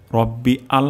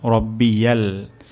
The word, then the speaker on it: রব্বিয়াল: সুবে হানা রব্বিয়াল, রব্বিয়াল, রব্বি আল হবে না, রব্বিয়াল, রব্বিয়াল, সুবে হানা রব্বিয়াল।